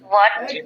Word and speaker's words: what: Red mark করা মানে হলো এই সব শব্দের উচ্চারণগুলো বাংলাদেশিরা জানে না। What, when, এই যে তুমি বললা কি hot, when, where, why, which, সবগুলোর মধ্যে তুমি হ বলছো।